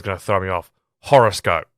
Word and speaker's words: Horrorscope: Horrorscope. So you still pronounce it the same, but it's got the R in there, like it's making a play on horror and horoscope.